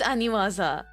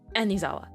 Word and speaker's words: Aniwaza: I know it's Aniwaza, But I can never say that. Wait, I literally just had their website pulled up. The problem is it's the same thing with like my brain and my pronunciation, where I will read Aniwaza and I say Anizawa like every time.